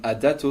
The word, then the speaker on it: A-Dato: Niels Mani from A-Dato or A-Dato, depends on how you want to pronounce it. A-Dato in principle, because it means you're always in motion.